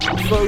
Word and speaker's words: pho: This delicious soup is pronounced pho.